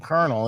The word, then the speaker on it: colonel: And sure enough, it fucking said Colonel.